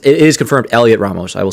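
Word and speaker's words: Heliot Ramos: Okay, so the H is silent.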